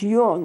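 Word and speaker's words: Jung: by a Swiss psychologist whose name was K Yung now he SP his name juu n but you don't pronounce it juu n he pronounced Yung he was a psychiatrist years and years and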